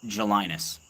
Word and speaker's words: Gelinas: My last name's Gelinas. Gelinas, right? You pronounce it in French as Gelina.